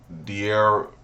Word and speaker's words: De'Ara: De'Ara. Am I saying it right? De'Ara. Yeah.